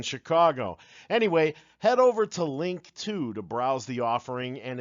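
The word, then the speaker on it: Linqto: his boy in Chicago anyway head over to link to to the offering and its terms past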